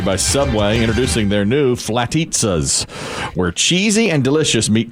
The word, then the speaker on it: Flatizza: italian or veggie flatissa should that be flatisa or flatisa i think it's you tell me i think it should be flatitsa because it but it's spelled like pizza we don't say pizza but i said it's like pizza but when i said flatisa